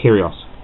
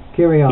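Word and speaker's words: Kyrgios: I I think it's curios curios you don't pronounce the G is that gent anyway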